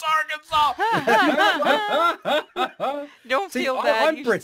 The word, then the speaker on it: Arkansas: small town of BB, Arkansas, or Arkansas, and I was like, fuck you, it's Arkansas!